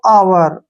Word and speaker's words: hour: यहाँ पर जैसे दो वर्ड है हमारे पास, जैसे HOUR, इसको पढ़ते हैं हम दोस्तों आवर। हावर नहीं पढ़ते हैं, आवर पढ़ते हैं, ठीक है ना। एच यहाँ पर साइलेंट रहता है।